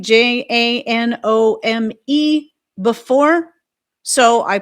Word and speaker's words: Janome: I pronounce it Janome, apparently it's Janomi.